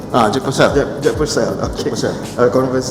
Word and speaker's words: Jack Purcell: How do you pronounce it? Jack Purcell. Jack Purcell.